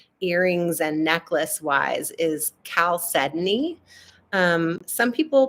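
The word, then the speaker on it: chalcedony: I'm wearing today earrings and necklace wise is Cal sedney um some people pronounce it chal sidoni that's the um like you know literal ftic way to say it but it's actually pronounced Cal sedy and this is blue caly which is exactly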